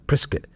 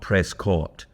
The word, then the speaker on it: Prescott: You see, you pronounce it prescuit like biscuit apparently. So, Prrisket, Arizona. Um, not Prescott.